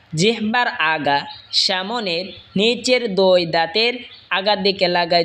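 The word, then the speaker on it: ض: এরপর হলো দত। জিহ্বার আগার কিনারা ওপরের মারের দাঁতের গোড়ার সঙ্গে লাগা উচ্চারণ হবে দত।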